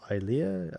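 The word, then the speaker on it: Ilia: Um, her name is pronounced Eia.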